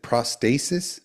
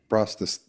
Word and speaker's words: prostatitis: Is it prostasis? Is that how you say that? Prostatitis.